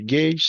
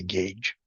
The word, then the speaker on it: gauge: called the gauge pressure sometimes people say gauge sometimes gge I've heard both pronunciations um I say gauge the idea once again